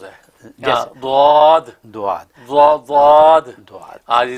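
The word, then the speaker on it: ضاد: لیکن اصل میں ان دونوں کے بیچ کا تلفظ ہے دعاد. ہاں جی، زبان کو جو وہ کنارے داڑوں کے کنارے سے لگا کے بولنا ہے.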